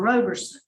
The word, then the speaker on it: Roberson: us your name in Doc number one it's pronounced your name Mr Roberson Mr Roberson here for a revocation decision this